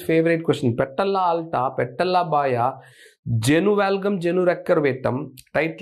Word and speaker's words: baja: That is called patella B-A-J-A. Pronounced as Baya. Not Baja, Baya.